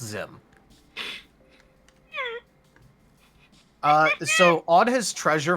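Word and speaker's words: Xim: There's someone known as Zim the Desperate. Oh, it's spelled X IM, but it's pronounced Zim.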